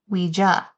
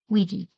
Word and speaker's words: Ouija: ads and publications for Ouija boards. And on it, like the first one, it said, like, it's pronounced Ouija. I've always pronounced it Ouija. Are you a G or a J?